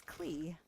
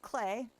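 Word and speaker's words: Klee: And so for a long time I was like, "Oh, it's Cle." No, it's pronounced Clay.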